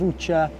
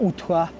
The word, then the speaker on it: Ottsjö: high up um this area of UTA or UTA depending on how you pronounce it depending where you from um is remote um